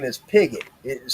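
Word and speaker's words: Pigott: My last name is Pigot. It is spelled P I G O T T.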